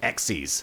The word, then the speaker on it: XYZ: did learn is that it's not pronounced XYZ summon it's pronounced X